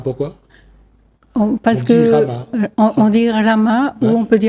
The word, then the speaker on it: Rama: Parce on que dit Rama. on dit Rama ou Ouais. on peut dire Ram. On prononce pas, en sanskrit, on ne prononce pas forcément le A à la fin.